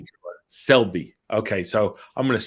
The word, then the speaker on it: Selbie: So how do I pronounce it? Selbie.